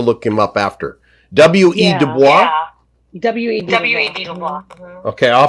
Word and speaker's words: Du Bois: Du Bois. Because you speak French fluently. You pronounced that correctly.